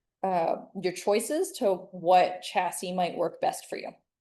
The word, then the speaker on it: chassis: You're going to need to decide what the best host cell or we call it a chassis. Pronounce this word chassis.